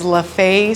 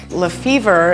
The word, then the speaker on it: Lefevre: name of your business the official way is lafay street bakery and cafe baker and owner victoria shoemaker recently took over the bakery she's worked hard to keep customers coming back lefevre is the most popular because that's how google actually pronounces it if you're looking for directions la fevre is a popular one and then intermittent variations